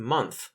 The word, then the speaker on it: month: If not, then the O in month might trick you. The O doesn't make an O sound, it makes a short U sound.